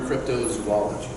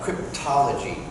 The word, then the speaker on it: cryptozoology: how pretty all know the term cryptozoology it's often butchered you know people call me up the beyond for producers for a show we're working we're gonna do a show about cryptology or crypto aids or you know they